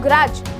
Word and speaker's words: grudge: बोला प्लेज, तो यहाँ पे D हो गया साइलेंट। ऐसे ही मैं बोलूँ ग्रज, GRUDGE, तो यहाँ पर भी D आ गया साइलेंट क्योंकि D और G हमारा इकट्ठा आ रखा है।